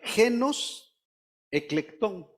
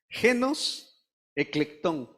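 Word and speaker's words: γένος ἐκλεκτόν: Miren la palabra, a ver si les suena un poquito, es la palabra genos eclectón. Vuelvo a repetirse. ¿Quieres aprender griego? Hoy tiene la oportunidad. Genos eclectón. Genos eclectón.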